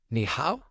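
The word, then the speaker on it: 你好: pretty straightforward to pronounce it sounds like how just make sure to keep the KNE part high and then go down and ditch on the how give it a try ni how uh that was great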